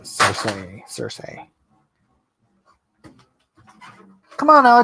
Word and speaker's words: Cersei: That's how George pronounces it. Cersei.